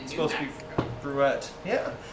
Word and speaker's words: Gruet: We tried to say grue, but somebody said nope. It's made in New Mexico. You have to say it right. Wait, in It's New supposed Mexico. to be gruette.